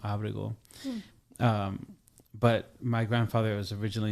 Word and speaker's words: Abrego: Abrego is how my grandfather pronounced it, is my official name, which I'm learning.